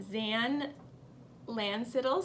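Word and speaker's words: Xan: seen your name wrong it's XA n zan Lance it all says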